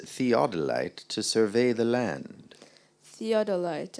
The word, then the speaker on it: theodolite: to survey the land theodolite am I pronouncing the word correctly sounds good to me theodolite t h e